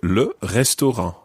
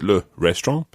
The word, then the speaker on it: le restaurant: So, le restaurant. Le restaurant. It's spelt exactly the same way as in English, but just said in a French accent, indeed with French pronunciation.